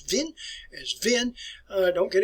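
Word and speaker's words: Wien: in our countries vienna if you go to austria today is pronounced as vin as vin i don't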